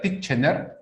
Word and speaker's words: Titchener: Se escribe Titchener, ¿ya? Pero lo pronuncias Titchener, ¿ya?